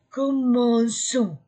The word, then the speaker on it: commençons: c c'est dit pour que le mot se prononce commençons et c'est se prononce maintenant ce nous commençons